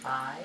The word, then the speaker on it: pai: I was just reading pie as the end of magpie, and then the root was PAI, which would be pronounced pie, and so I thought it was a fun little pie thing.